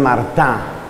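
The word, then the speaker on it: Martin: Y los dos papás santos canonizados son de apellido Martín, que en francés pronuncian Martá.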